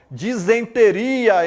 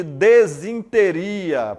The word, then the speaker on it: disenteria: mais exemplos aqui ó disenteria em vez de desinteria professor que palavra é